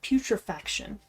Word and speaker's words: putrefaction: The correct pronunciation and spelling of it is actually putrefaction.